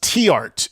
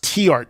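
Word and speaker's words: Theart: It's actually pronounced T-art is how you pronounce his last name. Most people say The corrected me on this one, so I remember it. It's actually pronounced T-art.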